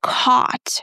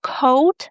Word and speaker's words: caught: Caught. Again, it's not coat and we pronounce it just like the word caught.